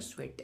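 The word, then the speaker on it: Tswett: व discovered chromatography Michael स्वेट ठीक है यहां पे टी साइलेंट पढ़ा जाता है स्वेट ऐसे पढ़ा जाता है द बेसिस पार्ट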